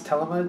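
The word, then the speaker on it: Thelema: For the main part of the read, I'm using the, I believe it's Telema Tarot. Somebody sent me the pronunciation, so I guess the H is silent.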